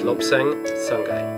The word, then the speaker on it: Lobsang Sangay: Sure, I pronounced your name correctly. It's Lobsang Sangay.